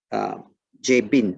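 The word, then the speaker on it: Jabin: And in the beginning of chapter 11, we read about Yebin or Yebin. Okay, the J is actually pronounced as a Y for Hebrew.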